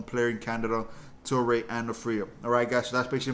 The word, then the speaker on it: Aphria: Now I am saying Aphria now correctly this time.